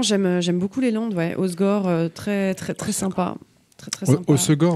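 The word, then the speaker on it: Hossegor: Osgore, très sympa. Très sympa. Osegor, ouais, c'est ça. Osegor, ouais, il faut dire Osegor. Ils ont une prononciation, les gars.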